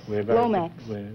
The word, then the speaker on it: Lomax: uh Lomax yes oh is that the correct pronunciation yes Lomax Lomax huh we're very particular